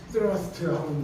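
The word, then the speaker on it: thrust: 이게 이제 트러스트가 TH 발음으로 이제 혀가 이빨 사이에 들어가서 트러스트하고 이제 되는 발음인데 이게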